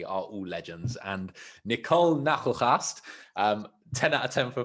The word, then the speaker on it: Nagelgast: And Nicole Nachelgast, 10 out of 10 for pronunciation, right?